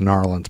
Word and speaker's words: New Orleans: I think it's pronounced Narlands, but still, don't be calm and quiet.